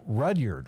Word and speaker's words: Rudyard: check it out and your name is Rudyard right am I pronouncing that correctly you're one of the few people to pronounce it correctly okay right but Rudyard